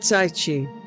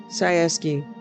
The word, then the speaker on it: Tsaesci: Ah, I finally know how to pronounce Sayeski. It's not Saichi. Sayeski. Sayeski. Okay.